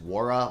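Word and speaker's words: Nwora: say Jordan Noah, and it's just Wara. Like, the N is silent, and I'm sure you guys have, like, told me that in the past.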